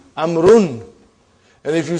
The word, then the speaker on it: عمرو: Why do you have extra vav? It is not read. It is not pronounced. It is only written. Why? Just to differentiate between these two. Actually it is Amrun.